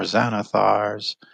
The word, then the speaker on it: Xanathar: Well, Xanathar starts with an X. I know, but it's a Z sound when you pronounce it.